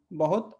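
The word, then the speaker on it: bem: अब इससे जो एक शब्द बना है, आपको पता होगा ये शब्द बैं, है ना। थोड़ा सा यहाँ पे एम आने की वजह से थोड़ा सा उच्चारण और थोड़ा सा बदल गया।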